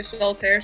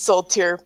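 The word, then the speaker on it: Soultier: Korn asked me if it was Terror or Tier. They're spelled the same way. Yeah. It's Soul Tier, but that's fine.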